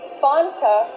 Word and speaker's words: Fanta: root beer in America would you not pronounce the word Fanta it is pronounced f f use the short a sound before the N it changes a little bit it becomes a little more nasal in your nose f f f f